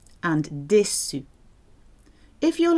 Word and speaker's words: déçu: But of course, E acute accent gives it the I sound, like déçu.